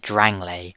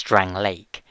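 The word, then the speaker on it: Drangleic: months back you'll remember I pronounced It drangle Well turns out I was wrong it was Drang Lake either way that sure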